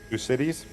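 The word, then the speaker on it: Thucydides: y d i d e s but it's pronounced uh two cities toucaditis toucaditis gez it's no he's a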